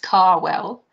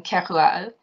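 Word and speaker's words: Kérouaille: They couldn't or wouldn't pronounce her name and referred to her as Mrs. Carwell rather than Keroualle.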